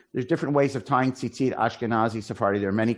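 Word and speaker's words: ציצית: But we pronounce it as if there's a second yud, correct?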